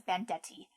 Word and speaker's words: Bandette: I always think her name should be Bandite, but I've known some people who pronounce it as Bandette.